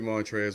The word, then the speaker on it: Montrezl: i said ferocious slam the l is silent mantras are real with the ferocious slang why put the l in his name why if this is going to be montrez why put it hell